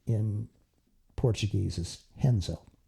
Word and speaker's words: Renzo: it's Raphael Halbert, but in Portuguese you pronounce the R with an H.